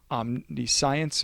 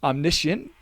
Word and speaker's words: omniscient: It doesn't show that God is omnipotent, omnipresent, omniscience, or omniscience, oh my goodness, omniscient. That's how you pronounce it.